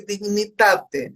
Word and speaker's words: Dignitate: E quando o Marco falava do projeto Resgate, o nome da nossa ONG é Dignitate. É como se falasse em italiano, está em latim.